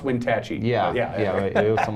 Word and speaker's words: Wenatchee: And two, it's pronounced Wenatchee.